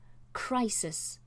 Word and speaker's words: crisis: highlight this word because we have two letter I's, but they're both pronounced differently. Crisis. So the first I is the one where we are pronouncing the I sound. The second I is a single monophthong, I. Crisis. Crisis. I. So that has two vowel sounds.